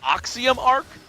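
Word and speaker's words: Axiom Arc: there that's the new I believe it's pronounced oxom Arc uh that that first word may be pronounced a little different I I am indeed not from Runa so my pronunciation is a little bit off I'll work on that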